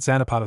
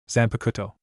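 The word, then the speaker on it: Zanpakutō: What's that Xanapato thing? Eno asked saying it wrong. Zan Pakuto Jeriah corrected.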